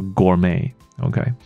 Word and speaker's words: gourmet: 发音的，它就念作 gourmet。OK， so you can enjoy gourmet 啊，享受美食。